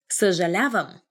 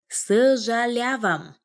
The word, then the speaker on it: съжалявам: Съжалявам. Съжалявам.